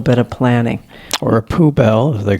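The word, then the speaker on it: poubelle: A poo bell. Anything that has the word bell in it, which supposed to be nice and beautiful. Yeah. But then you have poo. So, yeah.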